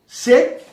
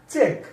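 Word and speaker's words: check: শেক না, এটা চেক।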